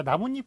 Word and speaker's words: 나뭇잎: 자, 나뭇잎 같은 경우에는 나무 플러스 잎이잖아요. 그런데 발음은 어떻게 됩니까? 나뭇잎으로 되죠. 그러니까 니은이 덧나요. 요게.